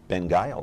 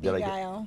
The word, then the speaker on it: Beguile: It's Benguile, right? There you go. Benguile. Beguile. Benguile, all right. Beguile. Take out the N.